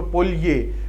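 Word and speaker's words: Polje: पढ़ रहा हूँ ना, एग्जैक्ट इसकी प्रोनाउंसिएशन पढ़ेंगे तो ये यहाँ पे वाई की साउंड देता है ये। ठीक है, स्लोवेनियन लैंग्वेज से आया वर्ड है पोलजे, ऐसे कहेंगे इसको पोलये।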